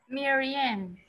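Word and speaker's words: murine: El primer sonido, mirror, como así, mirror. Mirror. Sí, perfecto. Mirren, in. Mirren. Solo in, no ian, in. Mirren.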